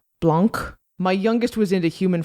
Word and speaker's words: Blanc: He's working on Blank, which is spelled with a C at the end. Blanc.